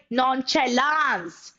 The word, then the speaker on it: nonchalance: The pronunciation is nonchalance. All right, some people pronounce it like nonchalance, लेकिन वो गलत होता है. It's nonchalance.